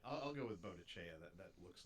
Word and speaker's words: Boadicea: I've seen it pronounced a whole bunch of ways. Boadicea, Boadicea, Boadicea. I mean, pronounce it however you want. Boadiceo. The Latin teacher in my high school called her Boadicea. And she's from... It looks like it should be like an Italian pronunciation.